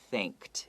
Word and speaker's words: think: th sound in english you always have to make sure your tongue comes out in between your front teeth okay the bottom and